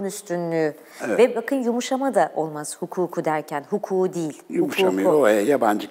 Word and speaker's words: hukuk: haldeyken bu kelimelerde mesela hukuk deriz değil mi Ama e ceza hukuku derken uzunluk ortaya çıkar aldığında tabi ünlü bir ek geldiğinde ulama yapıldığında ortaya çıkar Hukukun üstünlüğü Evet yumuşama da olmaz hukuku derken huku değil yumuşamıyor